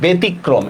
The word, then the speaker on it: ব্যতিক্রম: এটার উচ্চারণটা হবে ব্যতিক্রম। এই যে ব একার তরস্কার তি, ক হসন্ত, করফলা ওকার ম হসন্ত। কেন বলেন তো? জফলার পরে রস্যই আসছে, এই জন্য একার হয়েছে, ঠিক না? আর শব্দের মাঝখানে রফলা হলে না দুইবার উচ্চারণ হয়, মনে আছে?